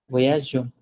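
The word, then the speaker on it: voyageons: What we do is we put an extra E here. So it's Now pronounced as go voyageur. voyageon. Yes, voyageon. Okay, Okay.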